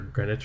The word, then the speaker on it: Greenwich: Dunwich or whatever, and it's like Dunwich or Greenwich or whatever. They have cute ways of pronouncing things.